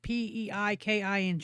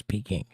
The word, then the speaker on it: Peking: Yes, but I believe it's pronounced Peiking. No, it's Peking.